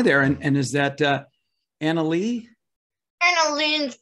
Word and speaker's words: AnaLynne: AnaLynne, thank you. AnaLynne. Rhymes with lanolin.